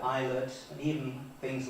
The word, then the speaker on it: eyelet: So until ' 89 it was showing pronunciations like Ilet where I would have eyelet and even things like